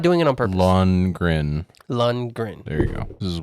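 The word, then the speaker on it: Lundgren: it's I'm not doing it on purpose lungren lungren there you go this is worse than cricked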